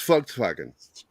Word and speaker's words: Volkswagen: of saying fart slime it's Volkswagen is the way I was taught to see it it's Volkswagen yeah the people's wagons yeah yeah but sometimes you pronounce it like it was started with a W and if you don't